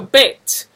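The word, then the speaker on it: ב: So bet, when it appears with the dot, it's a harder sound, like b. When it appears without the dot, it makes a v sound.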